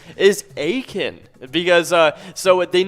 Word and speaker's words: Aitkin: it is it is spelled a i t k i n uh it's not eight kin it's aiken so uh yeah hey